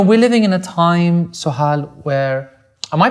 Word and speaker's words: Sohal: And, you know, we're living in a time, Sohal, where, am I pronouncing your name correctly?